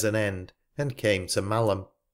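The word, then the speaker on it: Malham: end and came to malum pronounced mam a village in the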